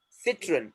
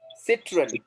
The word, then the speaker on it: Citroën: Now, if you see here, citron. It is what? Two syllable word. Yes or no? Citron.